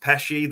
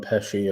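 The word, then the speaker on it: Pécsi: Liverpool have made a signing this week, a young kid, I believe it's pronounced Pesci, the goalkeeper, the Hungarian.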